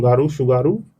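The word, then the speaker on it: Tsugaru: की जाने वाली आवाज़] शुगारू स्टेट क्योंकि टी साइलेंट है इसको आप याद रखेंगे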